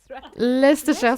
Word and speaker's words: Leicestershire: Et bien sûr, je me souviens, j'arrive pas à le prononcer. Leicestershire. Leicestershire, c'est ça.